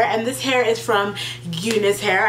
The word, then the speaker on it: Unice: this hair is from Unis hair I think I'm pronouncing it right Unice or Unice I think it's Unice hair um it is amazing